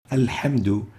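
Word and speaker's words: الحمد: the ha, as in alhamdu, where they say alhamdu. And in ar-Rahman ar-Rahim, they would mistakenly say ar-Rahman, ar-Rahim. The proper way to pronounce those is with the ha, not with the ha.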